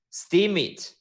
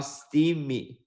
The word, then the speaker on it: Steemit: somebody Tomy is like this is steam it not Steve me yeah I don't know